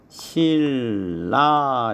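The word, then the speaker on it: 신라: 그래서 발음을 하면 실라 이렇게 발음이 되죠.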